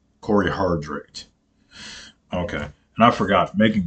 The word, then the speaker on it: Cory Hardrick: Corey Corey hard hard is that his name Cory hadrick hadrick I can't can never pronounce this dude's name man um let look up divorcing the black so I can get it I'm sorry y'all Corey Hardrick Cory Hardrick okay and I forgot making good